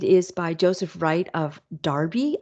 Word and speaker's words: Derby: by Joseph Wright of Darby I know it looks like it's spelled Derby but it's pronounced Darby it is 1763 to